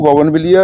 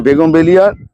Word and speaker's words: বুগেনভেলিয়া: রাখছি চ্যানেলটাকে আজকে দেখাবো গগনবিলিয়া এই মানে আমি ভুল উচ্চারণ করি একজন ধরে দিয়েছিলেন এই বেগমবেলিয়া নিয়ে ওখানে বেগমবেলিয়া নিয়ে